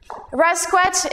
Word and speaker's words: Rascouët: my name it's hard to spell how to pronounce rasquet is the french half my father is a